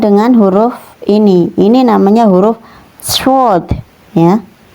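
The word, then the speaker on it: ص: Bedakan dengan huruf ini namanya huruf shod ya. Cara melafalkannya seperti bersiul ya teman-teman.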